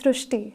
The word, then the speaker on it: Srushti: So in Marathi, the word Ri is pronounced as Ru. So that is why the pronunciation goes Srushti.